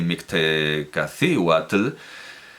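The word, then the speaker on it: Mictecacíhuatl: principio de un vídeo pero también hay que pronunciar bien sí efectivamente mixtalandly Y mixtecacíhuatl quédense estos nombres Bueno pues como digo Quetzalcóatl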